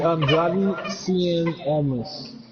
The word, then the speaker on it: Andrade Cien Almas: It's Andrade Cien Almas.